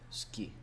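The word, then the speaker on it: 好き: Because I know that's the same with Japanese, where it has like the word suki is often pronounced like ski.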